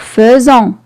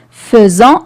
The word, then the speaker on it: faisons: on va mettre faisant toujours faison qui s'écrit faison mais je dois pas la lire comme ça c'est pas correct je lis faisant et j'écris fait nous